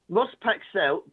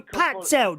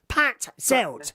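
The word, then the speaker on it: Patzalt: Ross Paxell books. No, Pat Zelt, dear. Pat Zelt. Say it properly. Spell it. Spell it. Spell it. P-A-T-Z-A-L-T. Pat Zelt.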